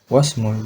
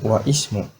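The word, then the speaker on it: واسم: Ismul waladi Muhammadun wasmul binti Zainabu. Nah, perhatikan di kata wasmu wa ismu. Nah, Mas Jamal kadang bacanya wa ismu, kadang juga bacanya wasmu. Nah, itu dua-duanya boleh.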